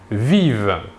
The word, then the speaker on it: vivent: pluriel ils ou elles vivent nous remarquons ici que la terminaison ent à la fin du verbe conjugué à la troisième personne du pluriel ne se prononcent pas nous pouvons remarquer aussi